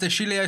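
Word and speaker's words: De Sciglio: to Liverpool just Riz this pronounced dilio sorry not disig like I said before according to gazetta De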